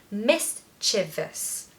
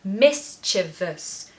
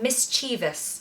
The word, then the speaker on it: mischievous: on the first syllable mischievous achieve us so stress the first part and then there's a schwa on the end so mischievous mischievous Miss Chivas not mischievous we hear a lot